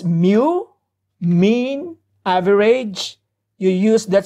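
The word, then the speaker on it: μ: get your average score this is pronounced as mu mean average you use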